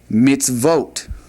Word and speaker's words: mitzvot: We'd say mitzvote. It's vote to vote.